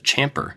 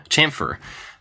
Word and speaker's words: chamfer: so I I assumed it was champer chamfer um and this guy said it in a nice way he was just like correcting me so I looked it up and realized that I'd been saying it wrong this entire time it starts actually the sound is like a TSH so it's very similar to champfer but it's not yeah I don't know